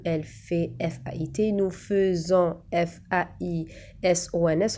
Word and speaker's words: faisons: fait F-A-I-T, nous faisons F-A-I-S-O-N-S وكنت تشوفوا قلنا faisons ما كتبناش le E قدام ال F كتبنا A-I بصح يتنطق E donc faisons, vous faites A-I-T-E-S, il ou elle font F-O-N-T.